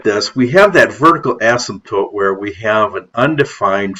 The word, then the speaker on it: asymptote: This line is called the vertical asymptote. And there is a P in there. It is sometimes it's hard for me to say this word and not pronounce the P, asymptote. Sometimes I swallow that P.